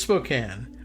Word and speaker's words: Spokane: I started doubting myself whether we were in Spokane or Spokane, but it's Spokane according to the French guy and everybody else too.